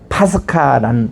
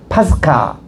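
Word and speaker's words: πάσχα: 이런 뜻에서 나온 것이 파스카라는 뜻입니다. 따라합시다. 파스카. 파스카. 그게 유월절을 히브리 말로 파스카라고 읽습니다.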